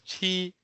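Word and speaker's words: 七: Pa is known as 8 in Chinese, and Jiu is known as 9 in Chinese, and 7 is usually pronounced as Qi in Chinese.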